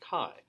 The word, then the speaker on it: chi: scripty looking x but it's not pronounced x it's pronounced chi so chi sub a